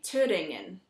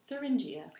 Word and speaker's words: Thüringen: But the German name for the state is actually Thüringen.